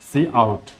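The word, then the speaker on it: cout: করতে যাই তাহলে সেটা হচ্ছে সি ইন আর সি আউট। এখানে একটা জিনিস খেয়াল রাখবা, সি ইন সি আউট দুইটা স্পেলিংটা হচ্ছে এরকম এবং সবগুলোই ছোট হাতের হবে, উচ্চারণ হবে সি ইন সি আউট, যদিও একটা শব্দ সি আই এন, কিন্তু উচ্চারণ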